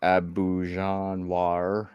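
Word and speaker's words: Auberjonois: nemoy uh Renee abuan close enough um in of an R but okay well that's that's that's the French pronunciation um oh no oh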